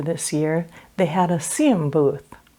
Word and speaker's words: Xiem: year they had a CM Booth cm is spelled X IEM so I'm sure most